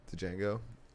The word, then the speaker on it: Django: it just escaped me django the d is silent sam jackson [ __